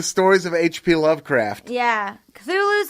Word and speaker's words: Cthulhu: And I should say that Cthulhu's only the way that humans say it, because its actual name cannot be pronounced with a human tongue, according to H.P. Lovecraft. Fucking Lovecraft. It was supposed to be more like Cthulhu, like a cop.